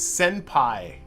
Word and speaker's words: senpai: I keep saying that. It's senpai.